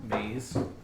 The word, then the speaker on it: maize: translation for corn that sounds cool maze the mace but it's like for instead of less pluralizing it like mazes it was just the maze and it's spelled m-a-i-z-e are you amazed like mayonnaise name is maze all right amazed pick